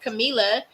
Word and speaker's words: Camila: page is sunshine camila k-a-m-e-l-a for pronunciation purposes but that is not how you spell my name again this show believes